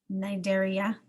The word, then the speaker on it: Cnidaria: the food phylum nidaria the sea is silent Nigeria cnidarians are characterized by